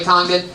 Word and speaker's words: Congdon: Kimberly Congdon, spelled like it sounds. Congdon. That's Kimberly Congdon.